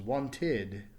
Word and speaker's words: wanted: add the e D it becomes wanted notice that there's now two syllables another example is the